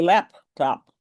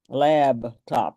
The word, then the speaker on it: laptop: So therefore it's called a laptop, not a laptop. I asked a very educated gentleman, a Renaissance man, "Why are you calling this a lab top, and he said,"Oh, I